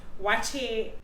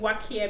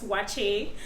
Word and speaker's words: waakye: the receptionist there, and she said light soup, wache. I usually pronounce it wakie because it's spelled W-A-A-K-Y-E, something like that, but then I heard it's wache.